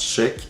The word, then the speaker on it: Schaech: Jonathan Sheck, oui, ça se prononce Sheck, est né le 10 septembre 1969 au Maryland.